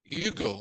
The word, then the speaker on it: Hugo: his name is Victor Yugo all right person not pronounce the h it's in French is Yugo Hugo all